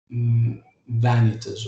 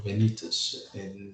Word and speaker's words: vanitas: were normally called vanitas or venetas depending on how the italians used to pronounce it and venetas uh